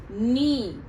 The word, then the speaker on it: knee: Okay, then the third column, knee. K-N-E-E, knee. इधर के silent है. ओके, तो हम सिर्फ इसको प्रोनाउंस करते हैं नी.